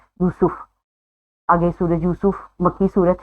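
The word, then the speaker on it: يوسف: में यूसुफ नाम है, उसको यूसुफ नहीं बुलाना, करेक्ट प्रोनाउंसिएशन है यूसुफ।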